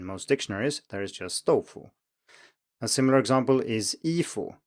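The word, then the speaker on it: 豆腐: So if you take a word like doufu, if you were to pronounce it with full tones, it would be doufu with a third tone, but that's not how it's listed in most dictionaries, there is just doufu.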